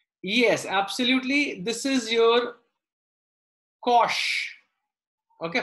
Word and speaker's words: cosh: Shine and cosh. It's not a mispronunciation. It's the pronunciation that we use for hyperbolic function.